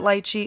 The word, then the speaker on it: lychee: lychee jelly, and yes, I'm going to be pronouncing it lychee this whole time, not lychee.